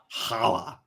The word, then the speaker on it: challah: good that's very pronounced you gotta say it like you're coughing up a hairball challah barbra streisand no i